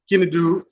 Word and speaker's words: Kindu: Well, you two brothers, Kindu, am I pronouncing your name correctly? Kindu. 2 syllables.